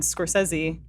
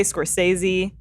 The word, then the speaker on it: Scorsese: today after that Martin Scorsese. Am I saying it right? Because I say Scorsese, and you said Scorsese. Scorsese is how we were always taught to pronounce it when we were doing Goodfeathers.